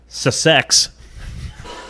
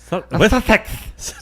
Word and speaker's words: Sussex: Sussex. Duchess of Sussex. So, yeah, sounds better. Duchess of Sussex. It's like success, but not really.